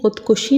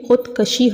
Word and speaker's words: خودکشی: بلکہ وفاق ہوتا ہے۔ پھر بہت سے لوگ خودکشی کہتے ہیں۔ خودکشی نہیں ہوتا بلکہ خودکشی ہوتا ہے۔ پھر منتخب نہیں ہوتا،